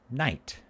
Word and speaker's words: night: But notice the spelling, N-Y-G-H-T. That's because people used to pronounce the Nichte, the sound, GHT, but now we don't say that. We say night.